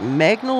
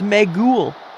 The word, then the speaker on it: Magool: Is it Magnol or No, it's Magool.